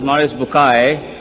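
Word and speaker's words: Maurice Bucaille: Morris Bukail pronounced as Morris Bukay am I right doctor doesn't matter okay uh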